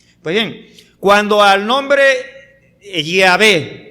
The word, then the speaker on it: Yahvé: Es más, la mayoría de los eruditos bíblicos coinciden en que en verdad la verdadera pronunciación del nombre es Yahvé, no Jehová.